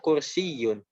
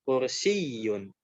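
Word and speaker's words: كُرْسِيٌّ: Adapun kalau bertasdid, ya, maka ditekannya di huruf yang bertasdid. Contohnya di kata kursiyun. Ini maksudnya harusnya ada titik 2 di bawahnya dan ada tasdid ya. Tasdid, bentuk yang seperti W. Nah, makanya tekannya di situ, kursiyun, kursiyun.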